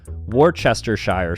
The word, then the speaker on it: Worcestershire: syllables in this table wrcs can be pronounced whis or worse and Shire can be pronounced sure sheer or Shire say a few interestingly